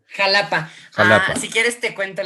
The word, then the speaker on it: Xalapa: el país advierte arquidiócesis de xalapa con su pronunciación xalapa como si quieres te cuenta la historia de